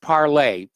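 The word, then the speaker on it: Parler: I know a lot of people call it parlor, but it's the French word for speak. And it's pronounced parlay.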